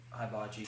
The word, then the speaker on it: hibachi: Hibachi. Hibachi. Okay. It's a Japanese guy, he knows. That's the Japanese pronunciation. H-I. Every I is E. So be hibachi.